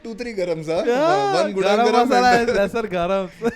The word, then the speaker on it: Gudang Garam: Yeah, One gudang garam masala and is lesser garam. when I started smoking, garam meant gudang garam. Gudan garam.